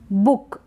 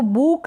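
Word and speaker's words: book: यह जो बुक है इसको बूक नहीं पढ़ेंगे हम पढ़ेंगे बुक यानी पर डबल ओ का जो उच्चारण हो रहा है डबल ओ को हम प्रोनाउंस कर रहे हैं शॉर्ट ज्यादा खैंच के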